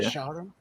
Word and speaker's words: Escharum: Let me see if Escharum. Did I say it right? Yeah. Escharum.